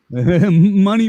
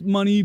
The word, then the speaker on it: Mani: Mani Mostofi, pronounced money, but it's spelled M-A-N-I for those of you on the podcast that can't see him, is with a band called Race Trader.